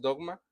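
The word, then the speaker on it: δόγμα: Aquí la palabra decretos es dogma, así la pronunciación es dogma.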